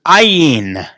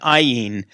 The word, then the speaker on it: ayin: the next letter is ayin ayin i in looks a little bit like a y but the bottom of it just goes over okay that's the letter i in is a silent letter and if it's in